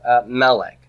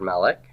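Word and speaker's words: מלך: of Ross we have Melek Melek what do you know about the word melech it is a cigarette now accent on the first syllable how committed to first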